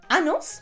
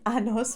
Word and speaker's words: años: are saying tengo 30 años, which literally means I have 30 anuses. Ay, ay, ay. So remember, you say tengo, then the H number, then años. Do not say anos, for goodness sake.